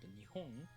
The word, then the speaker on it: 日本: Like for example, you can tell the pitch accent pattern for the word Nihon is the middle high pattern or Nakadaka pattern.